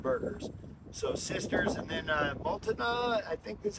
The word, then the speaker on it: Multnomah: So Sisters, and then Multnomah, I think that's how you say it, the Falls, that was the second best burger.